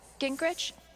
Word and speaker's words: Gingrich: So Steph, Gingrich?